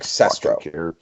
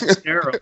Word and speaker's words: Sestero: Greg Sestro. That was Sestero, wasn't it?